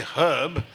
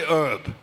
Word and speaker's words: herb: The pronunciation of the H becomes even worse because in English, for example, you say herb, but the Americans say herb. Whereas in English, only a Cockney, who's not very well educated, would say herb.